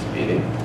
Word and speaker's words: SPDY: for mod speed yeah spdy pronounced speeding you will find our